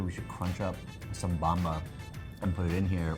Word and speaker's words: Bamba: like peanut butter flavor is that how you pronounce it bamba yeah it's just bamba this would be a